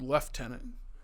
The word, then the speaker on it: lieutenant: was saying people's names I said left tenant because that's how they say Lieutenant yep I don't know